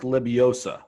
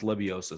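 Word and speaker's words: Lebioda: i believe it's pronounced leviosa someone can tweet me and tell me if i'm doing that wrong there's a d in there but i believe it's an s sound uh hank leviosa was third at this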